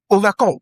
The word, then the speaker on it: overcome: Overcome similarly has stress on the final syllable.